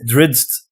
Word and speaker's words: Drizzt: Like the character Drizzt. Is that how you pronounce it? It's Drizzt.